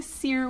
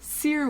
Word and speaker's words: Cyr: Um, so I'm studying Seer Wheel, which is a big metal circus apparatus. You spin around on it's a floor thing. It's really cool. Feel free to YouTube Seer Wheel.